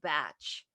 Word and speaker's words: Bach: way it's very interesting his name in england is pronounced batch dot batch and they